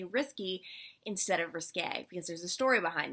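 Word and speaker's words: risqué: pet peeve you know it's not pronounced risky you could say risky business risque whatever it's risque if that's your biggest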